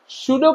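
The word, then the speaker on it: pseudopodia: सूडो का मतलब होता है फॉल्स, पी से स्टार्ट होता है लेकिन पढ़ते सूडो है, पी साइलेंट है, ठीक है।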